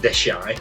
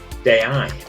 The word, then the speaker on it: Deshaies: Listening to a guide's accent, I also realised that the French pronunciation of the place we were going wasn't Deshaie, but Deshaies.